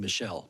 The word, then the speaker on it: Michael: registered as Michael I pronounce my last name Michelle but that's correct uh Michelle I